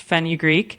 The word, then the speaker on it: fenugreek: I don't I'm not sure how to pronounce like fenugreek. Yeah, you got it pretty close. It's pronounced fenugreek.